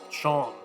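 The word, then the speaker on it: Seam: The name's Seem, pronounced Chom.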